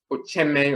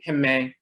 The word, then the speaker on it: Ochayame: It is pronounced Ocheme or Uheme in ancient Kemet.